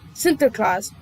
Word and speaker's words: Sinterklaas: called him Saint Nicholas, which in Dutch was called and pronounced Sinterklaas, or what we later have derived from that, Santa Claus.